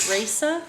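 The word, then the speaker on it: Rayssa: next one coming in I think you pronounce it Risa r a y SS a whe oh we have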